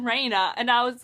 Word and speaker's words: Reyna: And then there's good old Renya from Heroes of Olympus. For, I think, 3 books, I read her name as Renya. But then I watched someone's video and they said Reyna.